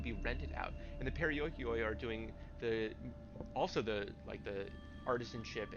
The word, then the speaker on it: Perioikoi: In other words, while Spartans concentrated on war, the Perioikoi, that's gonna, okay, cut out a syllable. I'm sorry, I've been reading that wrong. Perioikoi focused on everything else.